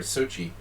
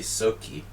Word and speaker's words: Sochi: so key I'm sorry Sochi I was saying it wrong I don't want to say so key that's so weird I